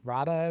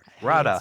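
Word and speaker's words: Radha: Mitchell Rat Rada Mitchell. I don't know how to pronounce her first name.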